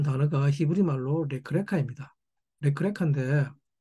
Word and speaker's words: לך־לך: 레크레카인데 이 레크레카는 언뜻 같아 보이지만 사실은 전혀 다른 글자입니다. 레크레카라고 읽는데 히브리어는 오른쪽에서 왼쪽으로 읽기 때문에 처음에 레크는 가라는 동사 할라크의 명령형입니다.